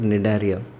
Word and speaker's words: Cnidaria: In all these cases I am not pronouncing the word C, the letter C, therefore it is included in this phylum called Cnidaria.